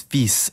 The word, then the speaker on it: fils: To start, the words for son and daughter both look like they should be pronounced fille, but neither of them is actually pronounced that way. The word for son is fils, and the word for daughter is fille.